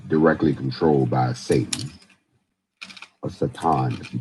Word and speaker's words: Satan: So, this man who will be directly controlled by Satan, or Satan, if you pronounce it correctly, is instead of Christ.